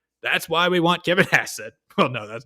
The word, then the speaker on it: Hassett: We want Kevin Hasset. All right. His name rhymes with asset. That's why we want Kevin Hasset.